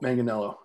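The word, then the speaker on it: Manganiello: speaking speaking of uh joe how do you pronounce his last name manganello manganello you play you play d with him i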